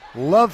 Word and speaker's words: LOVB: to Pro ecosystem introducing love Houston that's lovb Houston with a silent B Houston is one of